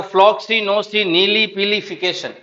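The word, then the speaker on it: floccinaucinihilipilification: देखो फ्लॉक्सी नोसी नीली पीली फिकेशन फ्लॉक्सी नोसी नीली पीली फिकेशन डिवाइड कर दो ये फ्लॉक्सी ये नोसी ये नीली ये पीली ये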